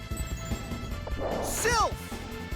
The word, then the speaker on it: Sylph: Sylph. Alright, at least they pronounced Sylph right.